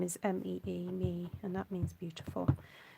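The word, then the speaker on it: Mee: So May is a kind of variant on it because in my mum's dialect, her name is actually pronounced more like May Swan, not Me Swan.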